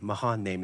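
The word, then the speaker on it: Mahanaim: of that place Mahana in name Mahan name Mahan name is how you pronounce it it says and then Jacob sent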